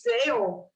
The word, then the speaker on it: tale: Só que essa mesma pronúncia serve para uma palavra que é assim, T-A-I-L, que significa cauda, rabo.